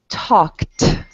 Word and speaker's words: talked: Okay, so you're going to say the verb and then it sounds like a T at the end. Okay, so that should be talked, walked.